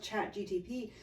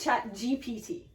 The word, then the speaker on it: ChatGPT: And now with chat GTP, like, you can go through and write an entire essay. Did I say it wrong again? Yes. What is it? But it's chat GPT.